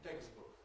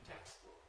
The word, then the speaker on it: textbook: say it in English, it's striking in words like textbook. Text, voiceless, book, voiced. Mispronunciation, textbook, textbook, textbook. Correct pronunciation, textbook, textbook, textbook. English keeps voiceless sounds voiceless.